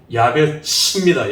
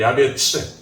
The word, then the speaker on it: 야베스: 그래서 그 의미가 이름하여 야베스, 정확한 발음은 야베츠입니다. 야베츠.